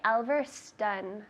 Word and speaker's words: Alverston: So it's not Alverston because of that O, right? It's not Spanish. So I would say Alverston. Stun. That sounds like a U. So always double check this, all right? It's not obvious. Alverston is spelled with an O.